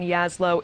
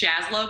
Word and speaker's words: Jaslow: And joining me now, Yaslow, Iraq War veteran, retired Army captain. First of all, thank you for your service. And also, I apologize, am I pronouncing your last name correctly? You didn't. It's Jaslow, but it's okay.